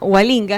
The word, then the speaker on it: Gualinga: Helena Hualinga. ¿Estoy pronunciando correctamente su nombre?